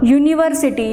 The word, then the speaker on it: university: A university, though the letter U, or you can say the vowel is used here, but pronunciation is y. University. Y is a consonant sound.